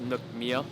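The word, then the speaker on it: nước mía: speakers don't kill me I think it's pronounced Nook Mia so I just had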